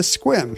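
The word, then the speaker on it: Sequim: Ludlow and retired to Squim. He spelled Squim without the silent E.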